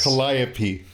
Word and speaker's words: Calliope: Calliope.